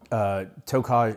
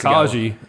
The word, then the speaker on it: Tokaji: and they use it to age something called tokaj. Is it tokaj? Tokaj. Tokaj wine. That's spelled Tokaji. I was mispronouncing that all the way up I've until called 20 that minutes Tokaji.